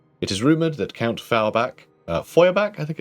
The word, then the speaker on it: Feuerbach: It is rumoured that Count Feuerbach, I think it's pronounced actually, Feuerbach, of Talabecland had his coronation made, armour made by Eldric Holstein, the head of the family.